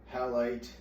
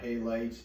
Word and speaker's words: halite: I'm just using this old-fashioned table salt, NaCl, halite, or halite, depending on your pronunciation.